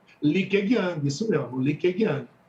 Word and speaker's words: Li Keqiang: Eu não sei se a pronúncia está certa, viu, professor, mas é Li Keqiang. Li Keqiang, isso mesmo, Li Keqiang.